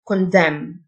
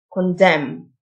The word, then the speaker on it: condemn: h silent honor يدين condemn ال n silent condemn يتغاضى عن overlook overlook